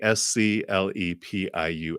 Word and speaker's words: Asclepius: And I might mispronounce some. In ancient Athens, it was a practice of the priests of Asclepius. It's Asclepius.